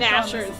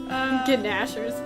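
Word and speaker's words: gnashers: ghers to good use nashers the g is silent in that really yes I like my way better gers are funny G nashers it makes it sound like a dessert yeah thanks Ryan which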